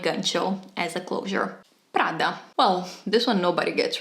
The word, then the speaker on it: Prada: more like a local you just have to get that R and that D very very crisp so instead of Prada